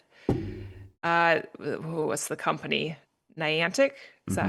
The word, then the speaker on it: Niantic: Niantic, is that how you say it?